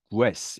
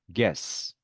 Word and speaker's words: guess: GU는 네, U 발음 없이 그냥 네, G 발음만 납니다. 자, 그래서 네, GUE 되어 있다고 이거를 guess 이렇게 발음하지 않죠. 어떻게 발음하죠? guess.